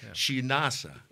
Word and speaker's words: Shenassa: Shenassa? Yeah, well, you're close. You're close. Shenassa. Shenassa. Shenassa. Like Shenassa. Sort of, but not sheesh.